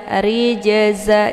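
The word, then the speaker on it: رِجْزًا: Rijza, rijza. Jadi jangan rijza ya sampai terputus ya. Ini bacaan yang salah ya.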